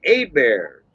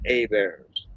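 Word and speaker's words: Hébert: he's related to the a bears that came from canada down here and i'm related to the a bears h-e-b-e-r-t a bear that's how we pronounce it in french a bear i'm gonna put it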